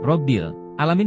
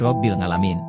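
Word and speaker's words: رب العالمين: karena Wali Paidi ini ketika membaca huruf Ain menjadi ngg robil alamin menjadi robil ngalamin gimana mau husu dan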